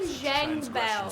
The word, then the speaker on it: Zhang Bao: Zhang Bao.